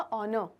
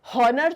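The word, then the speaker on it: honour: ऑनर। ठीक है, कि ऑनर, तो हॉनर थोड़ी होता है, ये ह थोड़ी है, तो ये ऑनर है। तो यानी शुरू तो एच से हो रहा है, लेकिन इसका प्रोनाउंसिएशन जो है उसके अंदर साउंड कैसे आ रहा है?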